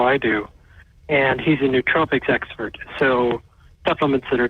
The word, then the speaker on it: nootropics: do, and he's a nootropics expert. So supplements that are cognitive enhancement aids, not drugs, aids. Is that pronounced nootropics, not nootropics? I'm glad to know that. Nootropics. It's N-O-O. Nootropics.